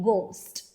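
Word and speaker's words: ghost: Like in psychology okay and इन जी एंड H only ग will going to make sound and H will remain silent like in गोस्ट।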